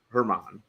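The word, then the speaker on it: Germán: German uh uh slight it's a silent G or a a light G Herman uh throws a perfect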